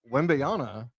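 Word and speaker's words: Wembanyama: So Wembyana, did I say it right?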